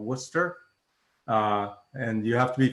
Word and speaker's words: Worcester: in the state, called Worcester. And you have to be from Worcester to know it's pronounced that way. It's one of those towns doesn't sound anything like the way it looks.